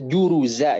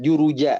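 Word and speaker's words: جرزا: Atau kalau kita ucapkan seperti suara huruf Z dalam bahasa Latin. Za. Kita juru za itu harus jelas. Karena kalau tidak jelas bacanya malah huruf jim jadi juruja dan itu maknanya jadi berubah.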